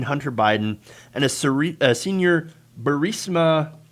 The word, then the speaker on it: Burisma: So now, that said, these allegedly showed smoking gun emails between Hunter Biden and a senior Burisma, or as Donald Trump says, Burisma. They say, pronounce it Burisma.